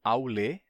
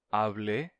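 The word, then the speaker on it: αὐλή: período do grego koiné, passaram por uma mudança na pronúncia. Aulê, aulê, avlê, avlê, avlê, avlê. E, posteriormente, avli, com a transformação de e se fechando em i, avli.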